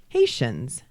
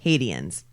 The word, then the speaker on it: Haitians: things or interesting ones Alicia Silverstone actually did not know how to correctly pronounce Haitians in the classroom scene she pronounced it hadians do you remember that